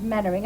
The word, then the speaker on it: Mainwaring: Her name is Mainwaring, Dory, only it's pronounced Mannering, and I thought you was a pretty good sort.